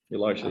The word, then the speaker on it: Elisha: Elisha, that's the way I said it, yeah.